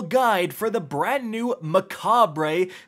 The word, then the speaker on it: Mechabre: for the brand new Macabre spelled like Mech Aubrey because it's Mech themed very clever Bungie sniper